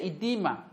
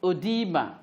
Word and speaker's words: edema: see on the board is odima or edema the americans say edema the brain says odima and it is a